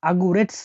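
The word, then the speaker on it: огурец: সবজি হচ্ছে শসা শসাকে রাসায়নে বলা হয় আগুস আগুরেস আগুরেটস মানে শসা আগুরেটস দেখুন এখানে আমি ভেঙে দিচ্ছি এই ওট উচ্চারণ হবে এ হিসেবে এটা জি এটা ইউ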